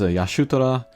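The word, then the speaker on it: Y'shtola: And then next is Yashutara. I know people will grate against my pronunciation there, but that's the Japanese pronunciation.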